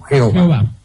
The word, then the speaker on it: Jehová: Y los eruditos suelen pronunciarlo Yahvé o Jehová.